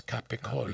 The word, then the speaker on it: capicola: It's Capicola.